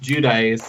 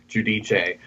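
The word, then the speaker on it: Giudice: It's uh Teresa uh Judice who halfway through the season started pronouncing her last name Judich.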